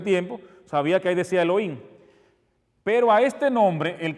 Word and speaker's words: Elohim: suena Así mismo suena Elohim esto como si fuera una una l entonces aquí le pusieron la e así e arriba suena como Elohim Elohim suena suena así Elohim suena Elohim para que